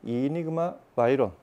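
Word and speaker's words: Enigma Veyron: 이름이 이니그마 바이런, 뭐 베이론이라고도 하는데, 제작자의 발음을 들어보니 이니그마 바이런 4D.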